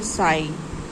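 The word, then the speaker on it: sigh: फिर आपका आता है साई। SIGS साई, साई मीन्स आहा भरना, ऐसे बड़ी सांस लेना। तो SIGS साई मीन्स आहा भरना, और GH यहाँ पर साइलेंट है।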